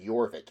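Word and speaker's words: Jorvik: That was how the Danes pronounced aver witch. For some reason, they found that name difficult, so they said Yorvik instead.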